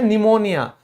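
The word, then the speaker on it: pneumonia: जैसे बीमारी थी ना, वो निमोनिया, किसी को सर्दी जुकाम होने के बाद होता है, तो यहां पे सीधा हम बोलते हैं निमोनिया, तो पी का कोई लेना देना ही नहीं है, किस वजह से, इस रूल के वजह से।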